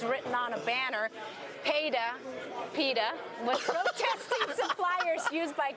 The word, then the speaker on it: PETA: you say KY P it's actually Peta people for the ethical treatment of animals uh